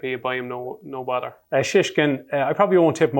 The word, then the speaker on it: Shishkin: I would say Shishkin. Well pronounced.